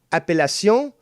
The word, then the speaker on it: appellation: the aoc stamp on cheeses and it's uh pronounced appellacion yeah that's what i said that's just not